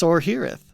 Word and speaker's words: Sorhiryth: You're leaving out the first R. Like, come on, man. Me? I'm saying Sorhiryth. You said Sorhiryth. It's Sorhiryth.